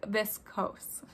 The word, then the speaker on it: viscose: say it correctly so according to google it is this coase i know i've said